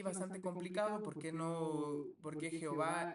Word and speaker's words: Jehová: introduce una una Perdón una vocal que introduce una palabra se pronuncia como a pero la misma puede pronunciarse como e si está pues es